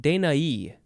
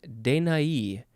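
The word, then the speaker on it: Danaë: dan next is uh dania no dain dainai i think that is how you say it de nai capital d-a-n-a-e and there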